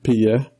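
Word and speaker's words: Piye: Yeah, I just learned that I probably have pronounced it wrong in the YouTube show. It's Pia.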